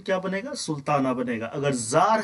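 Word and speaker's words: czar: है तो फिर क्या बनेगा सुल्तान बनेगा अगर जार है तो फिर क्या बनेगा जरीना बनेगा ठीक है जार रूस के राजा को जार कहा जाता था सी स ए आर और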